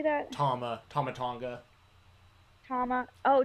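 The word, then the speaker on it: Tama Tonga: live also also how do you say that tama tamatonga tama oh tomatonga okay i was like what doesn't see them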